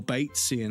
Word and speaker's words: Batesian: Oh, Batesian as in Bates, as in British pronunciation.